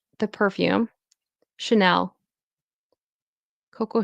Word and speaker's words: Chanel: Chanel Coco Chanel and then this is ch.